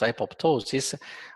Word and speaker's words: apoptosis: And it is a term that derives from Greek, from ancient Greek, and it is pronounced apoptosis, which means physiologic cell death or physiological death.